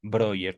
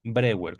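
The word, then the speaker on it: Breuer: de su paternal amigo Joseph Broyer o Joseph Brewer, como gusten pronunciarlo, quien a veces le daba dinero con el pretexto de que se trataba de préstamos.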